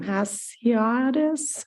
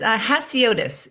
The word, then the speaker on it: Hasiotis: It's Hasiotis. It's what it looks like, but it's a little intimidating.